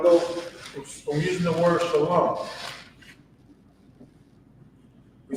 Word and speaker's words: Shalom: But this is Shalom. Notice that it's not Shalama, because in ancient Hebrew, we have these lines underneath the characters to pronounce, for its pronunciation of the word.